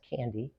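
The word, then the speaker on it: KNDy: called K and Dy it's pronounced candy so you can remember it that way well what happens is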